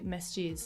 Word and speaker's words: masjid: sort of mini mosques, masjids, that's how do you pronounce it? I can't remember. Yeah, in Urdu we say masjid.